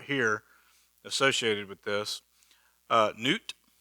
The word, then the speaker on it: Nut: associated with this uh newt it looks it's spelled nut your god's a nut